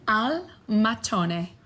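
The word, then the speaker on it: al mattone: Al matone.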